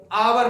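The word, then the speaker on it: hour: Next आवर अब बहुत सारे लोग एच ओ यू आर हावर हावर नहीं पढ़ते उसको हम आवर पढ़ते हैं। आवर आवर यानी कि एच साइलेंट रहता है।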